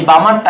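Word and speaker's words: Balmer: বল বামার বামার এই বামারটা একটু ইংলিশেও লিখিস বি এল এম এ আর এটা উচ্চারণ উচ্চারণটা অন্য কিছু করিস না বামার হবে কারণ কেন বল কেন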